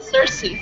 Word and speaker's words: Cersei: do you pronounce this uh how do you pronounce her first name oh Cersei sorry oh yeah okay and the second one